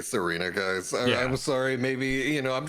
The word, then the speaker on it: Tsareena: It's more of an S sound. Okay. Getting pronunciation guide from chat. I'll be honest, I'm just gonna say Serena, guys.